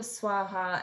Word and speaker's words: swaha: um tricky to think of swaha as swah versus two different ways and actually both can be used um rameshaya was explaining